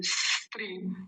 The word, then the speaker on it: स्त्री: तो जब वो बाहर आ रहा है उसी समय त्रि और जोड़ दें, स्त्री, स्त्री, और वो लंबा ना खींच के फिर छोटा होता चला जाएगा।